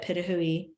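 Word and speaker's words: pitohui: We have the hooded pitahui, that's how you say it, pitahui, the African ostrich, and the southern cassowary.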